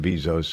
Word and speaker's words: Bezos: Thought it was interesting that Jeff Bezos, you pronounce it Bezos or Bezos, ladies? It's Bezos. Bezos. No, it is Bezos.